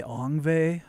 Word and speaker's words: Yngwie: Some people say Yngwie.